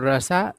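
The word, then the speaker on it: Russia: है है ना और यहां पर रसा जो है उच्चारण होता है अब ये मत सोच लेना कि सब रसिया कहते हैं रस होता है सही उच्चारण ठीक है चलिए तो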